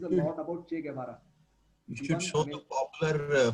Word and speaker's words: Guevara: G plus U together pronounced as G. Okay. G plus U together Okay. pronounced as G. Guevara.